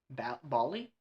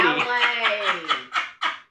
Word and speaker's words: ballet: Bali. He saw a girl in a Bali in New York City. Ballet. You ever HEARD OF A BALLERINA? THAT'S HOW you say that.